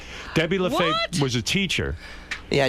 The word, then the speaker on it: Lafave: your name when she got in the newspaper Lafave Le fave Debbie Lafave was a teacher yeah I dated it for